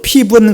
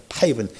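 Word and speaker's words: Piven: 자, 조슈아, 또 피분 그랬는데 미국 사람들은 피분이라고 읽지 않습니다. 이렇게 써주면 파이분이라고 읽을 거예요. 파이분.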